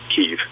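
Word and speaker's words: Kyiv: This was the first couple months of the war when things were, when they were attacking Kiev Kiev, I should say. Kiev's the Russian pronunciation.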